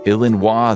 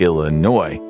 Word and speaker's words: Illinois: When Congress adopted the name in 1818, they kept the French spelling but ditched the pronunciation. Instead of Illinois, they went with Illinois, even though that's not